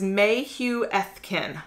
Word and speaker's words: Mayhuethkin: much and oh she gives me the phonetic name of the book so it's Mayhew f kin which I think I pronounced it correctly inside you will find